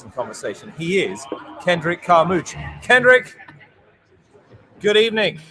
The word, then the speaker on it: Carmouche: Well, I'm saying Carmouche. I believe like it's smooch. Carmouche, and I think that's the correct way to say it.